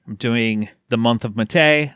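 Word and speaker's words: Mattei: I'm doing the month of Mate. I've been saying Matai. I've been mispronouncing his name.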